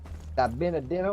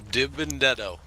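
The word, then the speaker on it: DiBenedetto: Matt Benedetto? Or how do you say that? Dibendetto.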